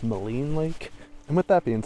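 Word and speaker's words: Maligne Lake: all I would like to apologize apparently it's pronounced Moline Lake and with that being said we've made it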